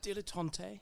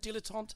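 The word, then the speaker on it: dilettante: call me um I'm a dilon yes that's right that's how it's pronounced in English not dilatant and I am well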